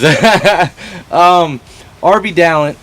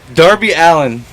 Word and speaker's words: Darby Allin: But anyways, RB Dallin. Darby Allin, folks. We know his name. I swear to God. This is a very interesting episode. We just can't seem to get names right. Darby Allin.